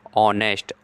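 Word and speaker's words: honest: एन ऑनेस्ट इसलिए एन लगेगा क्योंकि ऑनेस्ट ओ का प्रोनाउंसिएशन हो रहा है, लेकिन स्पेलिंग एच से है, लेकिन प्रोनाउंसिएशन ओ से निकल ऑनेस्ट, इसलिए एन लगेगा।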